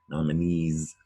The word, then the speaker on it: nominees: Nominees makes a Z sound at the end of nominees.